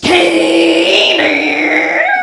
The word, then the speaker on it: Canaan: But I found out later that I had been mispronouncing Canaan my whole life. It's actually pronounced Canaan.